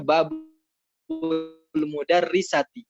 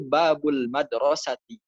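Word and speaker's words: بابُ المدرسةِ: tahu kenapa fikirannya gitu mereka bacanya bab lemu dari sati itu kan maknanya pintunya ibu guru ini ini ada apa para iphone dengan ibu guru ada apa saya kurang paham gitu ya kebanyakan bacanya babel modernisasi hai kenakan gitu nggak logis itu ibu guru tuh kayak gimana sih saya juga gak paham yang benar itu babul madrosati pintu sekolah tidak hidup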